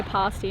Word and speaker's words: pasty: told us we were getting pasties we say pasty in Australia but it's pronounced pasty here Louise met us down the beach with